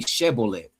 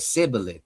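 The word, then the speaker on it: Shibboleth: They said to him, "Then say Shebboleth." And he said Sibboleth, for he could not pronounce it right.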